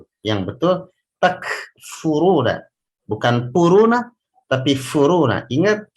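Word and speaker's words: تكفرون: Ra-nya dibaca tafkhim karena berbaris dhammah. Kaifa takfuruna.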